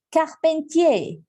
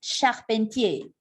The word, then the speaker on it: charpentier: Si es charpentier, a veces se me van olvidando como algunas palabritas. Voy a verificar la pronunciación. Ah, sí, es charpentier. Je m'excuse. Je m'excuse, c'est charpentier, carpintero.